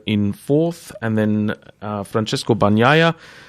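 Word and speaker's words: Bagnaia: fourth and then francesco banya that's pronounced banya biscuits just in case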